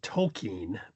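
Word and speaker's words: Tolkien: We were looking the other day and I found this on Tolken correctly pronounced or Tolken as we mostly pronounce it and he was talking I didn't really like his mom on this.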